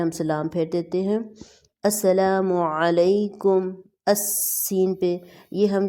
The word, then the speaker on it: السلام: ہیں۔ جو صحیح عربک ورڈ ہے وہ ہے السلام علیکم ورحمۃ اللہ۔ یہاں پہ ہم نے سٹاپ